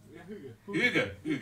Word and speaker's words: hygge: According to Wikipedia, they write behind it how you need to pronounce it, and they it sounded like more of a something like a sumo wrestler said, because it's like yo. It's like how you start the fight.